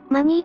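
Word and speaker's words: money: けれど英語を話す外国人はマネーとは言わずにマニーと発音するこれって明らかに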